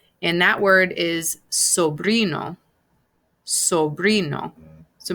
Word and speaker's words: sobrino: that word is sobrino sobrino so remember that you're actually pronouncing the vowels just like that so it's sobri no